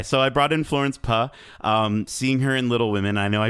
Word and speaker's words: Pugh: It's pronounced Puh. Is it Puh? Okay, Yeah. so I brought in Florence Puh.